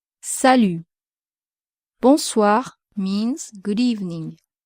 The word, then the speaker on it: bonsoir: Once again, be careful with the pronunciation of the nasal vowel on. The letter O plus the N is pronounced on and not on. So you have to say bonsoir.